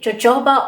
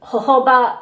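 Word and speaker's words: jojoba: that one I've got I don't know if people say jooba or hoba it doesn't matter how you pronounce it but that's the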